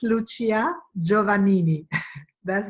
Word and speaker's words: Lucia: in the neighborhood you are super good in pronouncing my name actually it's Lucia Giovanni me that's not uncie asian okay good